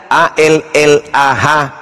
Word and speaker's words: Allah: Kalau menggunakan ejaan tajwid, maka bacaannya Allah. Tidak ada huruf O di situ. Ini juga kesalahan orang-orang yang membaca huruf Arab menggunakan kata huruf O. Tidak ada huruf O dalam bahasa Arab.